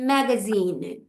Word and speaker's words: magazine: আর যখন জেড আসে, বাংলাদেশে জেড বলে, নর্থ আমেরিকাতে জি বলে, যখন জি আসে তখন সেটার সাউন্ড হয়ে যায় জা। সো ম্যাগাজিন হয়েছে উচ্চারণটা।